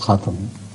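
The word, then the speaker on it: خاتم: should be pronounced, that take any Quran with Arab and word Khatam will be found as Khatam, not as Khatim, which means the very best, the highest, after whom no equal can ever come.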